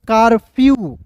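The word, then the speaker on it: curfew: है यहां पे देखिए सी यू आर एफ ई डब्ल्यू तो क्या पढ़ेंगे दोस्तों कारफ्यू ठीक है कारफ्यू यहां पे देखिए कार नहीं पढ़ेंगे कारफ्यू देखिए के सी का उच्चारण क के रूप में आर का उच्चारण र के रूप में सभी को पता है एफ का दोस्तों फ और ई डब्ल्यू है ना तो इसका उच्चारण यू के रूप में करेंगे दोस्तों तो क्या हो जाएगा दोस्तों कारफ्यू कहीं जाते हैं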